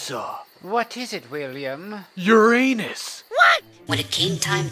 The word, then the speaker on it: Uranus: Famous scientists say the correct pronunciation is Uranus. Early pronunciations of the name include Uranus, and there's also the Greek pronunciation Uranos.